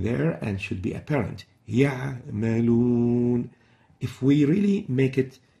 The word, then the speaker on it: يعملون: First mistake is truncating the pronunciation of the Ain when it is sakina, when it has sukun. Example, يعملون, يعملون. This is wrong. The right way of pronouncing it is يعملون. يعملون. So the Ain should be clear. It shouldn't be truncated and as if we are pronouncing a يعملون.